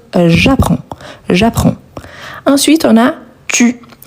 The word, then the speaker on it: j'apprends: Donc ici, très important car il faut ajouter le S à la fin. On ne le prononce pas, on ne prononce pas non plus le D, mais on doit les écrire. Donc, j'apprends.